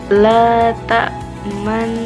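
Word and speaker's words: تأمنا: Tapi cara membacanya harus dengan meringis, menjujur, lalu meringis lagi. Contohnya, Bismillahirrahmanirrahim. La ta'manna. Jadi itu adalah ketentuan bacaan dari ishmam.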